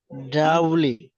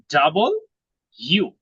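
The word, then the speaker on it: W: ডাবলি। এটাকে আমরা ডাবলু বলি, তাই না? কিন্তু এটা উচ্চারণটা হবে ডাবল ইউ, একটা ডাবল ইউ, হ্যাঁ, দুইটা ইউর মতো লাগবে।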